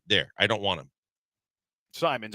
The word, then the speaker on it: Simons: Simons. I I butchered the name. I mean, Simons. Um I I thought there was two M's there and there's only one.